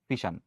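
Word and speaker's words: fission: আরেকটাকে আমরা বলব ফিশান। ঠিক আছে? তো ফিশান হচ্ছে উচ্চারণ করে। আমরা এটাকে ফিশন লিখতে পারি।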